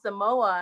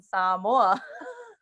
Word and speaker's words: Samoa: you're saying it wrong he said oh you mean samoa and i'm like no i mean samoa but okay and then